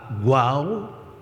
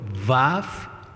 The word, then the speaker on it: waw: It has a waw or vav, like others pronounce it.